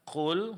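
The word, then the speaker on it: قُلْ: Nah, dalam melafalkan qul huruf qaf di sini yang ditebalkan hanya huruf kaf. Sementara huruf lam setelahnya ini mesti tipis. Jadi, qul jangan qul lamnya jangan ikut ditebalkan. Lam tetap dipertahankan tipisnya.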